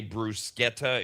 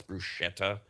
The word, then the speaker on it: bruschetta: It's not uh most Americans say brusqueta. It's not. It's bruschetta.